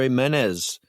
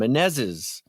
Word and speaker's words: Menezes: with me today, Andr Menez. No, I didn't say it right. I just blew it. Menez. It's the extra right. S. It's the extra S at the end. Menezes.